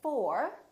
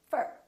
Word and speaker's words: for: to talk to you we don't say for we say fur so don't say i'm looking